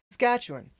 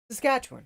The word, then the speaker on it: Saskatchewan: you like you just you put more emphasis in it than it needs just flows Saskatchewan Saskatchewan it's all you need yeah chew one chew